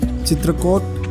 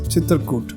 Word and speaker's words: Chitrakoot: CHITRAKOT, CHITRAKOT, CHITRAKOOT. Yes, all are correct, and I pronounce as CHITRAKOOT.